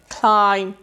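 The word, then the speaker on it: climb: silent समझ आ गई बी अगर एम के बाद आ जाए और बी पर वर्ड खत्म हो जाए तो बी साइलेंट हो जाएगा देखि जी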